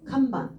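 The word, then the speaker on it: かんばん: 요게 들어가 있는데 문제는 이 널판지 판자가 음이 두 개예요. 항도 되고 만도 돼요. 항도 되고 만도 돼요. 그러니까 두 가지 음을 갖고 있는데 지금은 어떻게 들어가 있냐면 칸 반이에요. 칸반 타금 넣어서 읽어주시면 되겠습니다.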